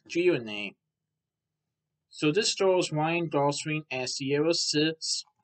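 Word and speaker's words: Greaney: It's actually based on a 2009 novel of the same name by Mark Gironey, which is spelled G-R-E-A-N-E-Y. Mark Gironey.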